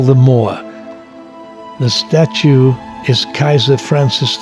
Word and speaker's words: Caesar: By the way, the German word Kaiser, meaning emperor, is simply a transliteration of the Latin word Caesar, which in Latin is pronounced Kaiser.